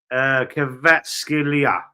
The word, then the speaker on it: Kvaratskhelia: He's showing me how to pronounce it. Kvaratskhelia.